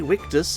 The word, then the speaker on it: Victus: they shouldn't have been is VE victus or if we pronounced it in the Pro proper Latin we witus we wickus this month is doing